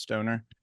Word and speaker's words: Stohner: There's a silent H in there, even though it's pronounced Stoner.